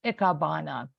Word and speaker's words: Ikebana: So it's not pronounced hyphenetically of how it's spelled. It's Ikebana.